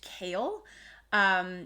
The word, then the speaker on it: Chaol: And there's a character named Kale, which is spelled Chaol, but I can only ever think of the vegetable kale because I also despise that.